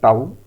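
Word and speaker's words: tau: तो टॉर्क का सिंबल होता है टाउ, इसका नाम होता है प्रोनाउंसिएशन टाउ।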